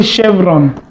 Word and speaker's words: chevron: sound so I was like Chevron can Beyonce chevron chevron CH pronounces shock okay we also have chemise this